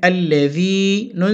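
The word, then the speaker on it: الَّذِينَ: বাম পাশে জসম আলাইয়া থাকলে এক আলিফ টেনে পড়তে হয়, উচ্চারণ হবে আল্লাযি, নুন সাবর না আল্লাযিনা।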